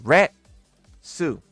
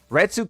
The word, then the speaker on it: Retsu: Retsu. Retsu came first.